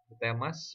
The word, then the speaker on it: Temas: Next kita punya Temas. Dibacanya pas ya, dibaca ini Temas, dibaca ini Temas ya. Pinter yang nama ini.